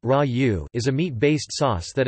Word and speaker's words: ragù: In Italian cuisine, ragù, pronounced ra-u, is a meat-based sauce that is commonly served with pasta.